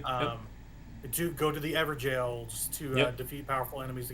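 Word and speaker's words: Evergaol: But, thank you for pronouncing as ever jail. I I hear so many weird pronunciations of that. I'm like, "Guys, ever jail. It's It's a It's ever jail.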